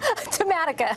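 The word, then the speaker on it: Tematica: You tell me how to pronounce that, Lenore. Tamatica.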